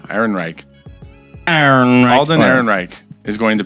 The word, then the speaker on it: Ehrenreich: Einreich. There's an extra R in there. Ehrenreich.